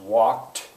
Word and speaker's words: walked: Yesterday I walked, adds ed. Doesn't sound like ed. It looks like walked, but it's pronounced walked.